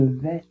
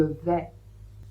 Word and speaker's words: vais: Toujours est-il que on ne prononce pas le S à la fin. Donc je vais répéter.